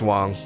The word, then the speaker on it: Wang: Wong who it is it is pronounced Wong if you want to say it in Chinese uh oh yeah okay